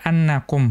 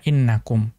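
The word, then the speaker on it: أَنَّكُمْ: fi'il A5 lebih dominan maka dibaca annakum Bukan dibaca innakum kita lihat catatan kaki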